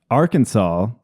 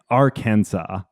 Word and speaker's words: Arkansas: make it a can ar Kansas or Arkansas. Yes. So So they don't pronounce the S.